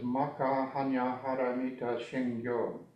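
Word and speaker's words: 摩訶般若波羅蜜多心経: It has a lot of vowels ending the words, and the vowels are pronounced very consistently. So the title is Maka Hanya Haramita Shingyo.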